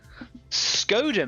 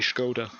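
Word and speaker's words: Škoda: So I think that the S with this little accent on the top of the S might even make it an SH sound, so it might be Skoda.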